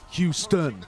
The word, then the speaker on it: Houston: But it doesn't work for Houston. Because the emphasis is on the first syllable, not the second.